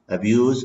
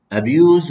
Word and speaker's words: abuse: So, abuse with ze, the pronunciation with ze, it will be verb. Hatkun fa'al, abuse ze. With se will be noun.